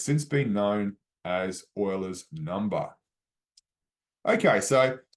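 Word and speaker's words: Euler: oil's number and the reason why is because Oiler is the last name of this Swift swift Swiss mathematician and scientist Leonard Oiler and that's how you pronounce his last name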